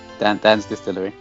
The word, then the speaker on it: Dan's Distillery: Did I pronounce that right? Dan's Distillery.